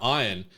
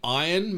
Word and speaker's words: Ian: Saying the name Iron makes me feel gross. It should be Ian, but, Mythic Quest and the pronunciation of Iron, Rob McElhenney's character in that. Oh, I see. Makes me feel like a bit heebie-jeebie-esque, but that's just how they do it in the Americas, apparently.